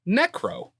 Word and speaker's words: Neckro: And thank you to one of our newest patrons, Neckro, but not spelled the way you think it would be. Is it like neck and then like row a boat?